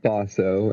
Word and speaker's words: Boso: Well, I am Bosso, and that is how it's pronounced if you've only ever seen it written down. It's not Bozo.